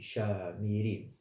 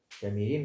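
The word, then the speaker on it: Shomrim: Normalement, c'est dans leur langue originale, on dit Shamirim. Shamirim, ça veut dire, parce que l'hébreu, le S, on le prononce Sha.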